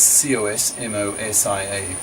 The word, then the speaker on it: Cosmosia: Cosmosia. That's C-O-S-M-O-S-I-A. Cosmosia, a suggested name pronounced Cosmosia for the Cosmist colony,